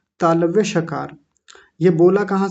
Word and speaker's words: श: श का आप श बोलिए तो जीभ हमारी मुड़ के तालू पर जाकर के लगेगी। बोलिए श हल्की सी जीभ घूमेगी गोल होगी और घूम कर के तालू पर जाकर के लगेगी।